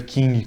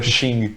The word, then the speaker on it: Qing: Se escreve Qing com Q. Eu li o livro inteiro lendo Qing, e aí depois eu descobri que era Xing, com um X que se lê.